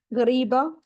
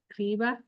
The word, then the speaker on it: Ghribya: yes and Semolina right so how do you pronounce this cookie GBA GBA this looks so good and these cookies they